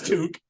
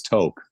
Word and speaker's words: tuque: Canada so I know I know it's Duke I know everybody says toke right well everybody in America usually yeah yeah if you don't have Canadian friends you you probably pronounce it yeah I hope you